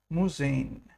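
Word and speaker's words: Museen: talking about museums the plural of museums is musain. Yes we go to the museums you could write sudin musain.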